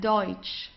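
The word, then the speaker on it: deutsch: and U so it's oi okay the pronun pronunciation is oi okay let's try that deut deut means German okay deut here D okay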